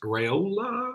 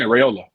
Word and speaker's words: Raiola: commitment from dylan raiola it must reola real low how much how do you say it yeah raiola okay i mean a